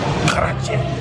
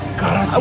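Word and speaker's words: karaage: Karage. Oh, karage. We both said it wrong. It's karage.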